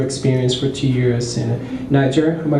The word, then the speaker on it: Niger: lot about your experience for two years and niger am i pronouncing it right yeah nija okay and you said you learned languages and